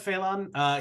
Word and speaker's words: Phe'lan: Phe'lan.